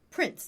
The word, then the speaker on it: Prinz: Prince. They pronounce it Prince. Yes, but it is most definitely... it is with a Z, not a C.